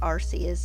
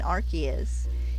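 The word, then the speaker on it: Arceus: the local localization stick generally there is there are two ways that is commonly pronounced and it is rcus and archus you can find like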